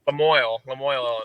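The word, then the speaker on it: La Moille: How do you pronounce it? Lemoyne, Illinois, yeah.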